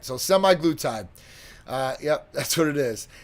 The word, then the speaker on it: semaglutide: So semaglutide.